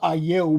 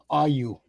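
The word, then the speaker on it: Ayew: His name is Aayou, but in England they pronounce his name AU.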